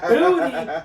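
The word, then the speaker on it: Boutte: Kayshawn Booty. That is how you pronounce the name, believe it or not.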